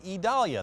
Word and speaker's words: Idalia: all eyes are on what will become hurricane idalia that's how it's pronounced pretty intense storm that is right in